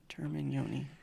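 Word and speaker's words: Termignoni: Termin Yoni. I thought it was Teleglami or something. I've heard it pronounced properly. I'm gonna trust Ricky's.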